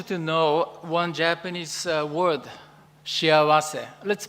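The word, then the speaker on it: 幸せ: Today, I want you to know one Japanese word, shiawase. Let's pronounce it, shiawase.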